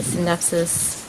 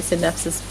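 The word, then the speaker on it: Scindapsus: is my synapsis exotica sorry i just can't pronounce the c in syndaxes i feel like it's wrong i'm i'm probably wrong everyone else is probably right but i can't bring myself to do it so this is the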